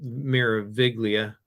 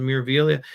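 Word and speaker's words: Meraviglia: I said Miraviglia earlier, but he tells me that the G is silent. So the Miraviglia, you'll have the unique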